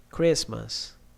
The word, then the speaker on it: Christmas: Pneumonia, psychology, T in a T way, Christmas, castle, k, knife, no, knock, okay?